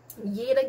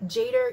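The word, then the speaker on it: jeder: up um that says yada gates gets yogin um letter j is pronounced as y so don't go up to your german friends and be jader get uh gate jets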